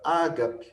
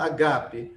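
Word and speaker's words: ἀγάπη: tá certa continua sendo Ágape Aí você fica muito mais não é Ágape não a gente pronuncia assim mas não é a forma certa o assento é aqui ó na segunda Seba é Ágape né amor e aqui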